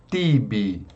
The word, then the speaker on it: tibi: O T possui um som aqui, ó, quando ele tiver na sílaba tônica, por exemplo, tibi, né, a sílaba forte é o ti. Então nós pronunciamos ti, tibi. Agora, quando nós temos esse